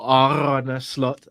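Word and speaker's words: Arne Slot: guys finally happy now an slot or ar slot as he says it's pronounced yeah AR slot AR something has finally had his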